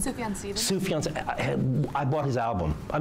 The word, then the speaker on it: Sufjan Stevens: Sufjan Stevens.